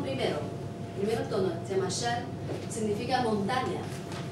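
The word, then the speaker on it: 山: Shan, su pronunciación es así. Con SH lo pronunciamos como sh, como inglés. Esta. Shan, A-N, como an, shan, shan.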